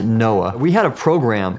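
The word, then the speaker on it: NOAA: Oceanic and Atmospheric Administration we pronounced it Noah we had a program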